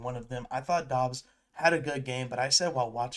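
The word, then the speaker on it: Doubs: I thought Dobs had a good game, but I said while watching it, I that I think Dobs is one of the most confusing Romeo Dobs, is am I saying his last name correct?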